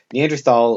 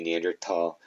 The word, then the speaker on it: Neanderthal: that's where the neanderthals neanderthal or neanderthal either way is correct i believe the german pronunciation would be neanderthal the this is where